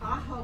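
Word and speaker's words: Ajo: Aho was a It's spelled A-J-O.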